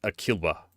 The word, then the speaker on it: Aquila: It's Aquila. It's pronounced Alaskan.